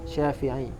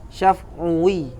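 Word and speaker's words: شافعي: Adapun nisbah yang benar yaitu kata syafi'iyun, syafi'i, bukan syaf'uwi. Wa syaf'uwiyun lahnun. Adapun kata syaf'uwi itu salah, lahnun, salah.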